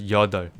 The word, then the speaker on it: 여덟: We ignore the second one, but we don't ignore the first one. So it's pronounced as 여덟.